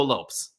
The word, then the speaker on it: Lopes: And Matt, when I talk about Diego, he pronounced his name on Contender Series, not Caesar salad. He said Diego Lopes, but I'm going to go with Lopez because if you go